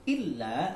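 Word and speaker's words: إِلَّا: Illa, ya di sini illa ada tasydidnya, jadi membacanya rangkap dan ditekan ya. Jadi jelas kelihatan kalau di situ memang harus ada kalau di situ memang ada tanda tasydidnya. Illa begitu.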